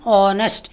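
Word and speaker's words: honest: சொற்றொடர்களையும் ஆன் ஏன் போட்டிருக்கோம்னா ஆன் ஹானஸ்ட் இந்த ஹெச் இருக்கே அது சைலெண்ட் அதை உச்சரிக்கக்கூடாது அப்ப இந்த ஓ என்பதற்காக அது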